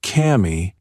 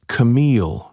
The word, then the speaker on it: Camille: "It's not Cammy, it's Camille," she said.